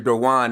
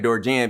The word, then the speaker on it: Dorwan: Even though my name is Dorwan, they keep saying Dorjan because of the spelling.